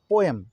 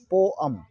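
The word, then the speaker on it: poem: next word मारा है पोयम जिसे आप लोग पोयम पड़ते हैं पियो एम एक्चुअली ए पोयम या पोयम नहीं है इसको ग्रो करते हैं वह आम पोएम पोएम इसको पढेंगे फॉर्म की तरफ और यह डिक्शनरी आप देखेंगे तो ऐसा ही मिलेगा आपको पोएम गलत हम लोग करते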